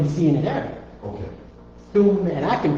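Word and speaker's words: ثم: Thumma, thum, not sum, Doing with the th.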